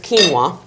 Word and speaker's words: quinoa: it accompanied with is quinoa took me a long time to learn to say that if you go in the store it looks like it's spelled quinoa it's quinoa and this is the tricolored